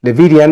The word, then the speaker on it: Levidian: And today, Levidian, is that the right way to pronounce?